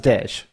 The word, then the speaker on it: Dej: The preferential pronunciation. Is Dej.